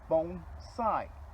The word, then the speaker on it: bonsai: and that's all it means pot and tree bone side a lot of people mispronounce that and they say Bonsai well Bonsai